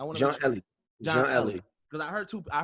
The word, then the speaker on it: Elie: We're speaking with John and now is it Elely or Ellie? I want to John Ellie. John Ellie because I heard two I heard two pronunc